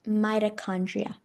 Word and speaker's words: mitochondria: Uh, it's pronounced mitochondria.